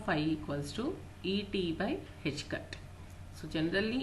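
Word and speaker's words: ħ: This is pronounced as H cut.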